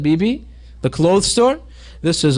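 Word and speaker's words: bebe: in every Mall almost BB you know it be e be that's how they pronounce it BB the clothes store this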